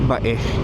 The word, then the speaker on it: Bay: So we are approaching Bae or Bay. Spelled B-A-Y pero pinopronounce namin dito as Bae.